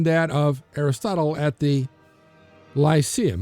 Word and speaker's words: Lyceum: The first library in Greece, public or private, is said to have been that of Aristotle at the Lyceum. Actually, would have been pronounced Lyceum, but all right.